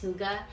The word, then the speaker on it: hygge: You know that Danish style of living, hygge? I mean, you see it everywhere. It looks like hygge, but it's pronounced hygge.